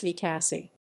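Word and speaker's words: VCASI: advanced studies in institution vikasi pronounced v cassie major contributions are 2006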